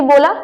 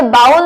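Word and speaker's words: bowl: क्या मैंने सही बोला? नहीं, इसे बाउल नहीं कहते, इसे बोल कहते हैं।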